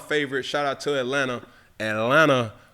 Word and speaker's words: Atlanta: Atlanta, the tea is silent.